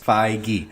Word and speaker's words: Feige: Yeah. Feige. Kevin Feige. 2 syllables. Feige.